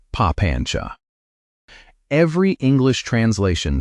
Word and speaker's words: papañca: The word he used was papañca — say it like "pa-PAN-cha."